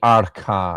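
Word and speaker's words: אָרְכָּהּ: Lerot kama rakhba vakama arkha Probably arkha. I should make that uh that kaf a little bit harder in my pronunciation because the begadkefat letter here has the dagesh lene.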